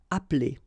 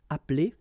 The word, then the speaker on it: appeler: Okay, same thing here, appeler, but then you get appeler, appeler, and then samedi.